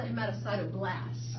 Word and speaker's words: hematocytoblast: How do you pronounce that? So that's a hematocytoblast.